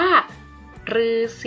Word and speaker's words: ฤาษี: ที่ ถูก ต้อง ค่ะ คำ นี้ อ่าน ว่า ฤาษี ผู้ แปล เอง นัก เรียน เคย สงสัย กัน